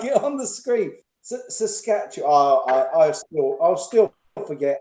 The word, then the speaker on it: Saskatchewan: is loose from saskatchewan that's how you say it saskatchewan believe it or not it's just like it's spelled you just sound it out saskatchewan i can't delay